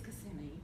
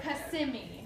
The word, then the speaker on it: Kissimmee: I'm sorry for repeating that, but that's the only So Kissimmee. Kissimmee. Is that the correct pronunciation? That is correct.